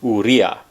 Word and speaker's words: Urrea: i pronounced that right it's u r r e a but it's pronounced urea i think i got